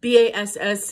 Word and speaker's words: bass: I don't know if there'll be too many basses in sixth grade, which is the B-A-S-S. It's not pronounced like a fish. It's not a bass, it's bass.